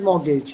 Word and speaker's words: mortgage: Means mortgage. Something like mortgage, yes. Don't pronounce the T. The T is silent in English. Mortgage. Mortgage. Mortgage.